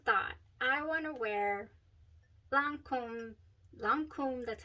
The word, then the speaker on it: Lancôme: I thought I want to wear Lancôme, that's how you say it, Lancome's Idole.